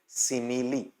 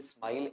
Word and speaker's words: simile: आपको पता होना चाहिए सिमिली सिमली सिमली स्माइल ऐसा नहीं बोलेंगे सिमिली बोलेंगे इसे वहां हिंदी में अपन